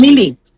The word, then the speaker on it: Lielie: How do you pronounce Lielie? Lielie.